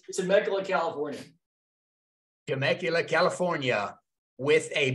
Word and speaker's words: Temecula: Greg is an experienced real estate investor who lives near, I should have asked you how to pronounce the city there, Greg. It's Temecula, California.